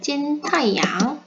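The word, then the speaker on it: 金太阳: 그래서 김태양 학생의 중국어 이름은 찐타이양 이렇게 발음을 하면 됩니다.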